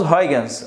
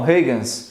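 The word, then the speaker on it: Huygens: horário esse cara Holandês então a pronúncia em holandês eu não faço a menor ideia de como seja ok nós falamos vagans Alguns falam regan's tá bom que que diz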